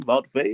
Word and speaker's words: Wout Weghorst: Wout Weghorst?